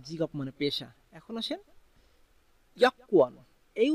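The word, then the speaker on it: 여권: এখন আসেন ইয়াকুয়ান, এই উচ্চারণটা আপনার আমাদের এখানে আছে ইয়াগুয়ান, কিন্তু কোরিয়ানরা মূলত উচ্চারণ করে ইয়াকুয়ান, তাই আমাদেরকেও এটা উচ্চারণ করতে হবে ইয়াকুয়ান।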